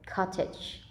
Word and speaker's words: cottage: the syllable the story the stress is on the first syllable cottage next we have somebody